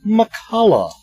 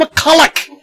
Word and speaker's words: McCullough: I'm always worried when I get into these possibly silent letters like fall at the end of McCullough, and I said she could want McCulloch.